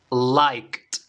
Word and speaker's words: liked: base o forma pasada liked escucha una vez más liked en este caso chicos la forma pasada estamos diciendo la t al final liked liked okay nos